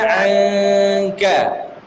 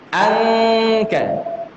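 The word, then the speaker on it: عنك: Nun mati ketemu kaf, sukanya orang bacanya pakai eng. Angka. Memang iya, tapi dia harus dengung. Wa wada'na anka, bukan angka. Engnya tidak jelas. Ya. Dan dia ditahan lebih panjang dari 2 harokat.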